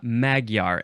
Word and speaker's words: Magyar: we have another guest today we have Karina magar am I pronouncing that correctly you are way to good